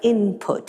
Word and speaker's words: input: now reflected in writing certain things like input are still written with an N but nobody pronounces it that way let's go back